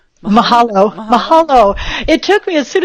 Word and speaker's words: Mahalo: Mahalo." Mahalo.